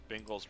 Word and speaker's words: Bingles: Bingles rhymes with jingles.